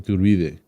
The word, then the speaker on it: Iturbide: Iturbide. Yes. That's a better pronunciation. Iturbide.